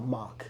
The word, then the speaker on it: Mach: album for money bro every time you say mac I keep thinking Mac Miller well mock I just say mock I sold a mock album is that how you say it myami yeah oh okay